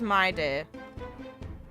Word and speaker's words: Mydei: A moment of divine insight arises from enduring Okay, so they pronounce it as mydei.